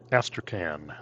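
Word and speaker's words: Astrakhan: the way over to that's astrocan that's how you pronounce it next to the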